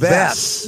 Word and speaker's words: Wes: I'm like, dude, it's a W, not a V.